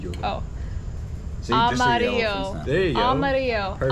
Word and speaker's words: amarillo: Amarillo. Oh. Amarillo.